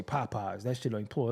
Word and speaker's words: Popeyes: Well, in the South, they don't like pronounce the whole word and shit. You like, anyway, go out there and give me some Popeye. No, they don't. He won't say Popeyes.